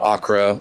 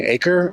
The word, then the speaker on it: Acre: Whenever I try to tell people about this and I spell it, they're like, "You mean acre?" And I'm like, no, it's Acre. You got it. You got it right. Did I say it wrong the first time? No, you're good. Acre. Yeah. I just didn't roll the R.